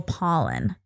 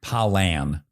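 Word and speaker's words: Pollan: name is Michael pollen Michael pollen like the kind you would that would give you the sniffles p o l l a n palan sure think I know you're saying it correctly but I'm just phonetically it sound it is spelled like paulan yeah paulan yeah Michael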